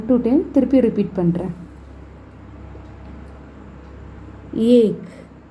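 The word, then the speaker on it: एक: First ஏக் ஏக் ஏ plus இக். கா வந்து முடிகிறப்ப வரப்போ இக்குன்னு ப்ரொனவுன்ஸ் பண்ணணும். ஏ இக் ஏக்.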